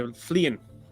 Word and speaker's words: Fleein: No, Fleein with an N at the end. Okay, Fleein, right?